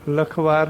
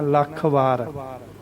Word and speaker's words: ਲਖ ਵਾਰ: leading प्यारी लगी है वहीं हो वही इसका उच्चारण करना होता तेल फिर ऐसे बोल दे यह सोचिए लखवार लखवार लखवार नहीं कहना लाखणी कहना लल्लन ऊपर आ करके बोलना लाख बार लाखड़ लाख बोलना नो वन लाइक्स थिस 2008